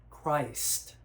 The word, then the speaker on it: Christ: And when we think of the word Christ, we have craw and we have ice. Christ. The way that's called, by the way, that's called a dip thong in our English language. Two vowels within one syllable.